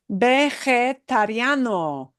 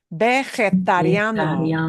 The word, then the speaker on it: vegetariano: Vegetariano. If you have a hard time pronouncing a long word, separate it, like I am doing now, into into syllables.